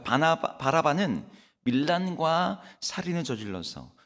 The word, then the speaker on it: 바라바: 그 사람의 이름이 뭐예요네 바라바 있니다네 발음을 잘하셔야 돼요 성경에 비슷한 이름들이 많아서네 바나바 바라바 바나나 막 이름이 막 헷갈립니다 예 오늘 본문 16절에